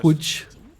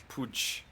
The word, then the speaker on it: Pudge: Pooch. I mean, they have I the, pronounced they that have right, the Epi. Glimpse still. Still no ultimate for the Disruptor. What did you say? Pooch. Pudge.